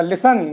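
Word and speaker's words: listen: ये 10 ए गया ये टी ए एन तो जब टी आई एन ए गया तो इसमें टी साइलेंट हो जाएगा लिसन लिसन मेंस सुना इसी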